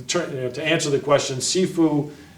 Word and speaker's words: Sifu: to answer the question seu means or sometimes pronounced Shifu too means like Father teacher